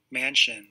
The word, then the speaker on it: Manchin: pronunciations for their names let's hear this mansion mansion okay anyway so joe manchin